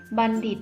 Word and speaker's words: บัณฑิต: นะ คะ นัก เรียน บัณฑิต อ่าน ว่า บ่ อ่า อะ นอ บัน ดร อีก ดร. ดิษ หมอ บัณฑิต นะ คะ หมาย ถึง